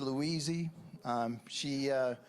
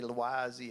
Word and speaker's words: Louise: Her name's Louise. That's how I pronounce it. Some people say Louise.